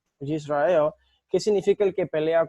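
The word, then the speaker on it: ישראל: se dice que que creo que se pronuncia Israel yisrael Qué significa el que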